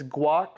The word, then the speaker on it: Gwak: It's Gwak, so like guacamole, but it's spelled Gwak Productions.